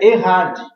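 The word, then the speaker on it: אחד: composta no hebraico essa passagem se eh Se pronuncia errad na E se fosse uma unidade absoluta se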